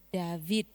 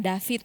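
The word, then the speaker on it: דוד: V-nya itu harus Bergetar. pengucapannya itu lebih ditekan. Iya, V. Harus berat ya. Kalau yang ringan kan David, tapi bukan begitu cara bacanya, harus David.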